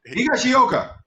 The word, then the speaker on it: Higashioka: I'm good at pronunciation. Higashioka.